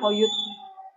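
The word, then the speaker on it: Öğüt: Iya, tulisannya Ogut tapi dibacanya Oyut.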